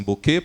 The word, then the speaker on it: Bucket: Na verdade, ela se chama Bucket, mas ela exige que as pessoas pronunciem Bouquet, porque é mais chique, etc.